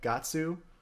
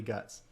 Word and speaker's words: Guts: Like Gatsu versus Guts, they put Guts, man. It's definitely Guts.